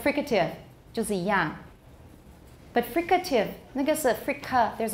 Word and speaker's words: fricative: doesn't work there and i also say fricative i don't say frigative i suppose it's possible but